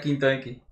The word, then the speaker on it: V Enki: ¿Cómo se pronuncia, güey? Porque, o sea, sí se pronuncia tal cual Benki, güey, porque escribe V, ¿no? Espacio Enki, güey. ¿Cómo es que se pronuncia? Se pronuncia Quinto Enki.